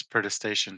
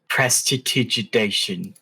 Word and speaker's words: prestidigitation: I'm going to pull out a candle and use protestation to light it. Prestidigitation. Yeah, whatever that word I is. can't. I had so much trouble saying that word. It's pronounced prestidigitation.